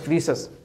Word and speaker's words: Rhesus: कैसे लिखते हैं, RHESUS, रीसस, अंग्रेजी में रीसस लिखते हैं, ठीक, एच साइलेंट रहता है।